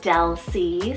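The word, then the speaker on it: Delsie: it means lady of strength next we have del c spelt d e l s i e del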